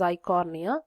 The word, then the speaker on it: Eichhornia: So this is water lettuce, and other example is Eichhornia. E is silent there. Okay, it is Eichhornia, which is also called as water hyacinth.